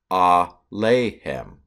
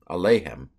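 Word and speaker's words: אֲלֵיהֶם: I was thinking Elohim at first, but that's not Elohim. That's Alehem. Alehem.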